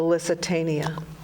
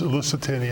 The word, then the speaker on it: Lusitania: and it was all I always put an extra syllable in, the Lusitania. Yes. didn't say it right. Lusitania.